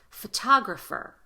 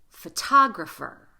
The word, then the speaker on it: photographer: However, when we look at the word photographer, the T is at the beginning of the strongest syllable, and the exception to the T between vowels rule applies.